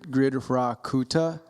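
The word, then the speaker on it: Gṛdhrakūṭa: yes andres uh i i've looked up how to pronounce it it's gr grid rakuta um grid grid yeah okay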